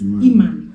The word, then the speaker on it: Iman: Okay, so wait, I have a video for how is it pronounced? Iman.